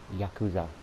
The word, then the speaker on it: yakuza: on the list the yakuza stinger is really easy i know i'm saying it wrong okay i know it's yakuza okay yakuza yakuza but i'm not i'm